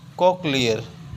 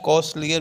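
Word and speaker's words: cochlear: चलिए अगला वर्ड देखते हैं, कॉकलियर। कॉकलियर मीन्स अ स्पूनफुल या चम्मच भर, चम्मच भर, ठीक। इसको सी एस का प्रोनाउंसिएशन सा भी करते हैं, तो कॉस्टलियर भी पढ़ते हैं, कॉस्टलियर।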